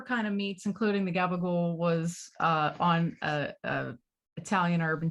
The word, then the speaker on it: gabagool: Gabagool. Oh shit. Gabagool. Hold on, let's hold on. We're gonna figure this out. I'm pulling up Subway's menu. Yeah. Mozzarella. So whatever kind of meats, including the gabagool, was on a Italian urban cheese bread with